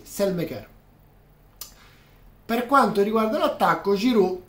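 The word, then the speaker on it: Saelemaekers: tutti i modi, ma non col suo vero nome, che dovrebbe pronunciarsi Selmeker.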